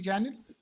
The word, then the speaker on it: Janel: nothing called folder uh Janel am I pronouncing your name correctly Janel yes so J there's nothing called